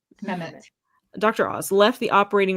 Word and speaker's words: Mehmet: Mehmet.